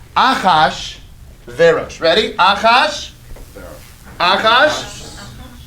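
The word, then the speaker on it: Achashverosh: I no say no no no no it's akash Varys ready oh gosh oh gosh Akash barish one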